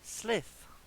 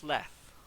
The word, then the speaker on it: Sleth: actually, I'm saying the name wrong. It's Sleth.